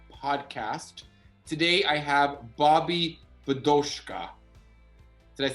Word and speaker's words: Bidochka: way to success podcast today i have bobby vadoska did i say it right yes i said